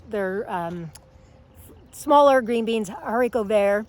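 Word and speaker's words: haricot: green beans they're they're um smaller green beans hariko there it's pronounced but she's got fields and fields of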